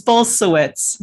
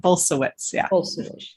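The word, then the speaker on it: Bulsiewicz: butcher that word yeah it's bolsowitz so it's a it's a polish name similar to my name but bolsawitz and both rooks rooksby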